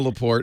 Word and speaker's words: Laporte: My real name's Leo Laporte, or it's actually Leo. I don't use the French pronunciation.